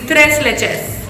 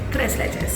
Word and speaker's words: tres leches: sure from Mexico and the right way to pronounce it is tres leches tres leches that is what I'm